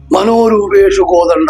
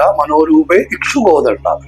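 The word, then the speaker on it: മനോരൂപേക്ഷുകോദണ്ഡ: മനോരൂപേഷു കോദണ്ഡ എന്ന് ജപിക്കുന്ന ഒരുപാട് പേരെ കണ്ടിട്ടുണ്ട്. മനോരൂപേഷു കോദണ്ഡയല്ല, മനോരൂപേ ഇക്ഷു കോദണ്ഡ.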